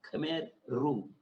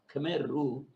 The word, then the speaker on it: Khmer Rouge: there is spelt khmer rouge actually it is pronounced as khmer rouge khmer rouge attacked from north causing death of almost a